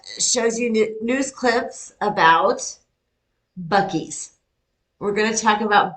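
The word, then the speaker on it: Buc-ee's: I thought the same thing, except I went on and watched a video of the guy who owns it, and he pronounced it Buccees.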